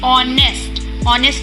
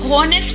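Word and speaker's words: honest: जैसे ऑनेस्ट में भी एच है, लेकिन यहाँ पे भी वॉवल साउंड आ रहा है, ओ की आवाज आ रही है, एच साइलेंट है ना, एच की आवाज नहीं आ रही है।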